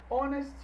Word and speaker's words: honest: E aí eu chamo a atenção aqui para os nossos Hs mudo, quando o H não é pronunciado. Então no inglês existe apenas 4 palavrinhas que iniciam por o H não pronunciado aí, não audível. Heir, herdeiro. Honest, honesto. Hour, hora. E honor, honra.